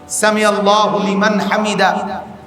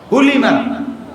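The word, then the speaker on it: سمع الله لمن حمده: আল্লাহু না না আমি যেটা কইছি আগে এটা সামি আল্লাহু লিমান হামিদা আমরা তো এভাবে বলি না আপনারা পড়েন সামি আল্লাহু লিমান হামিদা হুলিমান হুলিমান না সামি আল্লাহু লিমান হামিদা সামি আল্লাহু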